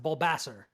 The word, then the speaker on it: Bulbasaur: But we can all agree on one thing, which is that it's pronounced Bulbasaur, right?